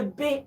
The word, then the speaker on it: bae: Mimi ningetaka nioe bae. Is it bae or B? Kai aria moi mutikijire ni bae as in BA. Oh, how do you spell it? It is B-A-E. Okay, bae. See, B-A-E is bae.